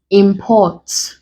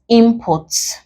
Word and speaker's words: import: As a verb, import. And you can also have it as import. As a noun, you stress the first syllable. As a verb, you stress the second.